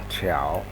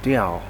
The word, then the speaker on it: 调: 科调调 Why there's such a difference? Some pronounce it Diao, sometimes pronounce it Qiao. It depends on the context. But most of the time, it's Qiao.